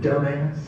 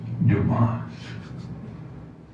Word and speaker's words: Dumas: Dumbass? The name is Dumas.